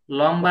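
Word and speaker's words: ل: এখন আমি দেখাচ্ছি আপনাদেরকে এই কাফটা কিন্তু একটু লম্বা আকৃতির হয় তাই না এভাবে আর লাম একটু গোল আকৃতির ঠিক আছে আর কাফের মাঝখানে একটা এস এর মত একটা চিহ্ন আছে কিন্তু লামের কোন চিহ্ন হবে না আপনারা পার্থক্যটা বুঝতে পারছেন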